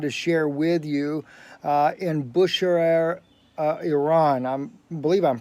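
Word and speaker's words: Bushehr: share with you in Buscher air Iran I'm believe I'm pronouncing that right Bush air bu Sh eh are Iran three ships have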